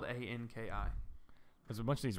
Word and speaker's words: Anki: It's spelled Anki. It's like called Anki.